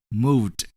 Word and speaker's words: moved: When we add ed to move, we're going to pronounce it as moved, moved.